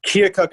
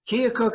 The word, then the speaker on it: Keokuk: Iowa how do you say that science fair Keokuk Iowa sir Keokuk Iowa he moved to Tennessee as a young